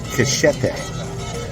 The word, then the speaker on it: cachete: It's called cachete. It's like machete, but with a C at the beginning.